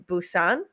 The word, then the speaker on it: Busan: Next time I'm in Busan.